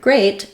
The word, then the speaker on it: great: e at the end so the word great is pronounced the same as great as in the adjective things are going great is